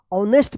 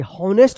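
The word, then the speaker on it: honest: ऑनेस्ट पढ़ेंगे, हॉनेस्ट मत पढ़िएगा।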